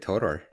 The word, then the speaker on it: Todor: Welcome, Todor. Todor. What's the right pronunciation? I'm always. Yeah, it's Father Todor.